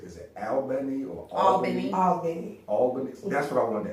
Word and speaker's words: Albany: Tell me the correct way to say the word. It's This Albany, Georgia. Albany, Georgia. Benny. All Benny.